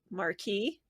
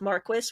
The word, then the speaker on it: Marquis: how he goes by Marquee instead of Maris which is the English version he takes the French pronunciation yeah but he's every